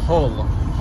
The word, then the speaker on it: Hull: Así que es un buen día para conocer más de Hull. ¿Sí o no, amor? No, no se dice Hull. ¿Cómo se dice? Dime, ¿cómo se dice? Hull. Se dice Hull. Hull. Ese sonido, UL.